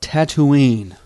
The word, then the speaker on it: Tatooine: So, today we are going to talk quickly about Tatooine, or as I've also heard it pronounced, Tatooine.